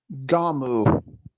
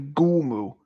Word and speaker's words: Gommu: His name was actually Gumu, not Gamu. Gumu.